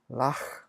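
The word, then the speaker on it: לָךְ: 너 한 사람 여자를 가리키면서 할 때 왼쪽 박스에 보시면 카프를 쓰되 발음이 흐 발음이 난다고 했어요. 동일합니다. 예, 카프를 쓰되 발음이 나게 소리를 내는 거죠. 어떻게 발음합니까? 라흐, 라흐 이렇게 발음하면 되는 거죠.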